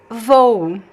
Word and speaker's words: vou: So I pronounce the first O as a closed O. And the second one I make it unstressed. Vou. So it goes down, pronounced as U.